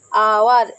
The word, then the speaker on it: hour: তোমরা সবাই বলবে আওয়ার তো এইচ দিয়ে শুরু, এইচ কনসোনেন্ট, তাহলে আমরা এ বসাবো, কিন্তু না, আওয়ারের উচ্চারণ আবার এইচ এর উচ্চারণ আবার আয়ের মতো হচ্ছে, সেই জন্য এক্ষেত্রে আমরা আবার বসাবো এন।